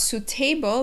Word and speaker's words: suitable: be a little tricky because of the vowels the you and i together they're making an oo sound so it's suit suitable the other thing to keep in mind is that second syllable has the schwa sounds you have suta suitable so it's not suitable but it's suitable suitable